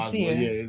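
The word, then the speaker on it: Sér: It's spelled Sir, S-E-R, but it's the hard line over the E. So we was calling it Sir at first.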